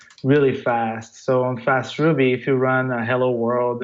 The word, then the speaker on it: faastRuby: faster me the idea you've got it right the idea is to have the FAA as function as a service but yeah it's a fast Ruby basically it's a platform that